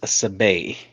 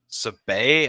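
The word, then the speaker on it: Sabé: So, her name is Sabay. Sabay.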